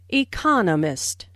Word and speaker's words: economist: Notice the stress on economist. This content word has new information, so it is emphasized. There are 4 syllables in economist, with the stress on the second syllable, economist.